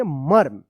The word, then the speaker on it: मर्म: ये जो रेफ की मात्रा है इस म के बाद, यानी ये पहला वाला जो म है इसके बाद आधा र का उच्चारण होता है, क्या पढ़ेंगे? मर्म, ठीक है।